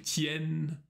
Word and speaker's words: tiennent: Ils tiennent. Elles tiennent. Тут тоже обращай внимание на последнюю форму. Это открытый звук. Ils tiennent. Elles tiennent. Отлично.